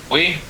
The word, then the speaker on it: buoy: Do you have like a pronounce it well? The buoy?